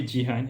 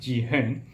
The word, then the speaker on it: Jihan: Okay, the argument was simply that when you said that somebody calls you when people call you Jihan, and when your actual name is pronounced Ji-hen, and when you told